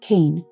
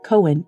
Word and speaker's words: Koehn: episode at the trial zachary's last name was overwhelmingly pronounced kane but because he pronounced it cohen in the 9-1-1 call and his father and brother both pronounced it cohen during their testimony i'll be using that pronunciation at the end of